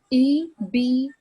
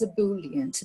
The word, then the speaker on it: ebullient: E-B-U-L-L-I-E-N-T. The correct pronunciation is ebullient, but you can also find other pronunciations like ebullient or ebullient.